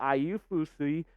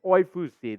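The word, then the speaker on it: Oyefusi: So let's check in with Daniel Ayufusi, and apologies on that pronunciation. Let me try that again. Oyfusi, there we go.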